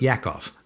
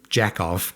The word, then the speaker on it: Yakov: Next character was Mr. Yakov. Not Mr. Jackov. Come on. That's not how it's pronounced.